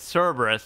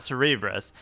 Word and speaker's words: Cerberus: Is my whole life I always thought it was spelled Cerebrus, like Cerebrus is even how I say it, and maybe I use it as a Twitch title. It's Cerberus, not Cerebrus.